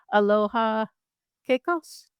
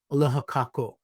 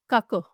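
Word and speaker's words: Aloha kākou: Jumi said, "Aloha keikos?" Is that what you said? Aloha kako. Kako.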